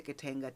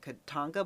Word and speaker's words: Katanga: tries to fly to Katanga to have talks with Tshombe. And I just realized I was pronouncing it Katanga, but it's actually pronounced Katanga. Tang like the drink.